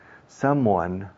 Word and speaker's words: someone: Someone, los españoles tendéis a no cerrar la boca con M. Y someone, moi, como un beso, moi.